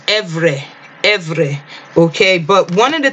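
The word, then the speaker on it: עברי: If you want to go into the Cepher and hear the pronunciation, we can go into, it was Evre, okay?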